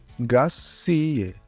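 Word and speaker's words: grazie: প্রকাশ করতে পারেন যেমন শব্দটির শেষে এ উচ্চারণ স্পষ্ট থাকতে হবে যা আমরা প্রায়ই ভুল করে থাকি গ্রাস সি এ গ্রাস সি এ প্রেগো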